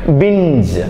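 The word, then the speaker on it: binge: വ്യാപൃതരാവുക over ആയിട്ട് ഇപ്പൊ തീ ഭക്ഷണം ഒക്കെ കഴിക്കുന്നില്ലേ ബിഞ്ച് ഓക്കേ അടുത്തത് ആർ എൻ ജി ഇ ആർ എ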